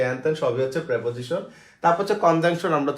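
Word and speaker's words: preposition: যেটাকে আমরা বলি, ঠিক আছে সেটা, অথবা হচ্ছে প্রেপোজিশন, আমরা বলি প্রিপোজিশন, এটা হচ্ছে কবিরা গুণা, এগুলো ভুল উচ্চারণ, এগুলোকে বলা প্রেপোজিশন, উচ্চারণ কি প্রেপোজিশন, প্রেপোজিশন, ঠিক আছে প্রেপোজিশন।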